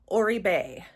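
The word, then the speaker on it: Oribe: All right, you guys have finally taught me how to pronounce it. Orbeay.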